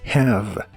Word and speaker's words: have: como una J suave Así que dices have la a de have es un sonido vocal que es una combinación entre la la e y la a digamos que son los sonidos e a juntos si dices Je a repetidamente llegarás al sonido Exacto cuando se mezclen he av he av have have la v o b